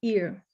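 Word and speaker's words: עיר: a city in hebrew city is ear like you can pronounce it like your ears on your head with a little more throat at the end of it ear and if we look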